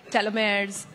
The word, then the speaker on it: telomeres: We hear a lot about gene therapies, telomeres, tel, that's how you say it.